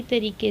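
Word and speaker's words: très: उसी तरीके से है TRES, यहाँ पर भी ई के ऊपर एक्सोग्राव है, तो होगा त्रे।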